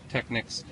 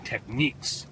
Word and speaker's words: Technics: God it's really heavy Technics you know I think I mispronouncing that a lot of people tell me it's techniques but I don't care